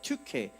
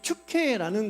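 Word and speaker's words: Τύχη: 그런데 두고, 우리말로는 두고라고 번역이 되어 있지만 발음되어 있지만 사실은 튜케입니다. 튜케. 이 튜케라는 거는 운, 행운, 운명이라는 의미를 가져요.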